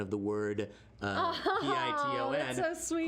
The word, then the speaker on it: piton: Beatgraphs, not .com _com said we did extensive research on the pronunciation of the word P-I-T-O-N. that's so sweet. According to the interwebs, it's piton. Piton. Ton, not ton.